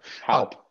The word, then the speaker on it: Halp: Do I pronounce it correctly? Was it Halp or Help? Halp.